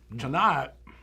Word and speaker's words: Tannat: And Tannat is, I think the best way to describe Tannat is the last syllable of the word, not.